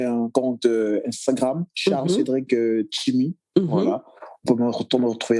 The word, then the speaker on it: Tsimi: Je précise que Chimi, c'est T-S-I-M-I. S-I-M-I. Exactement. Et on dit Chimi.